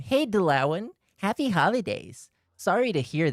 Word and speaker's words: Dalauan: Oh, it's is it pronounced Dalauan? Okay, that would the lawn.